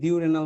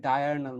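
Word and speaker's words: diurnal: ডায়ারনাল motion, অনেক জায়গায় এটাকে ডিউরেনাল মোশনও বলে, বাট এটার অ্যাকচুয়াল তোমার উচ্চারণ হচ্ছে ডায়ারনাল মোশন।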